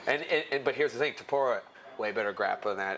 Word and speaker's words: Topuria: How do you say Ilya Torpedo? Nope. I thought you were going to say Topic. No! Ilya Topuria.